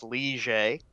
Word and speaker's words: Ligier: It's pronounced Ligier.